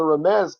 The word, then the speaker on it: remez: So it's a remez, obviously, a hinting back to. Remez is the right way to say it. Hebrew word, and it means a hinting back.